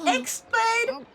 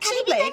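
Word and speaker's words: χ-blade: It's pronounced like Keyblade. It's pronounced oh. Oh. So, X-Blade or like Chi-Blade is written with a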